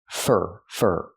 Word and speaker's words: for: looking for a job pronunciation fur fur the word for is not stressed here so we don't say for we say fur fur using the IR sound like Burger looking for a for